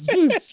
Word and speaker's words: Zeus: How do you pronounce Zeus? Yes, Zeus.